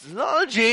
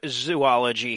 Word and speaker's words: zoology: Therefore, the correct and accepted pronunciation is zo to rhyme with blow or toe, and not zoo to rhyme with to, poo, or doo-doo.